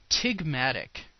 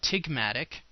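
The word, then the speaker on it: ptygmatic: of a big M tig matic the P is silent so TIG Matic TIG Matic folds are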